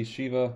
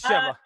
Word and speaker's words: Sheva: Seeing Eva makes me want to see Sheva return even more. Me too. I agree. I think that's a character. Is it Sheva or Sheva? Yeah, I always get Sheva or Sheva. It's Sheva.